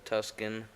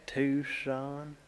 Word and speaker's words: Tucson: Yeah, is that Tuscan? How do you say it? Tucson.